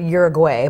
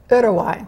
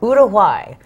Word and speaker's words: Uruguay: well okay Us in America we call it Uruguay but apparently it's actually pronounced Uruguay Uruguay now we've been educated and what brought you